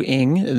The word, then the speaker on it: Ng: and for context Andrew Andrew ing that last name is spelled NG uh he founded and